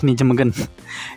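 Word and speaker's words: Nijmegen: kedua atau ketiganya nih di n megen ya bacanya megen ini main lawan FC utreh di mana oleh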